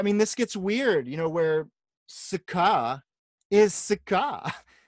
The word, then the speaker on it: Sukha: But as I understand it, the emphasis is on the second syllable, thus the line over the A, so it's Sukha, not Sukha, because she's no Sukha.